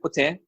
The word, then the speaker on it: poutine: I know some people just put ordinary cheese and they call it poutine, but authentic poutine, as they pronounce it, the correct pronunciation, poutine, is cheese curds.